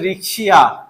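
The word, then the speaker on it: Riccia: হবে ফাহিম, এটা উচ্চারণ কি হবে, এটা হচ্ছে রিক্সিয়া, রিক্সিয়া রিক্সিয়া, কেমন, এটার উচ্চারণ হচ্ছে রিক্সিয়া, কেমন, এটা উচ্চারণ হচ্ছে রিক্সিয়া, ওকে।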